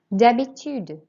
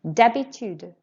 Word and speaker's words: d'habitude: D'habitude. Your turn. Notice we don't pronounce the H, it's silent. Écoutez et répétez. D'habitude.